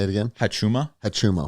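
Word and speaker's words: Huachuma: Hachuma. That's how I pronounce it. It may be Wachuma, but that is the cactus San Pedro.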